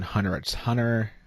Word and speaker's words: Hunter x Hunter: to pronounce it because the X is supposed to be silent right it was that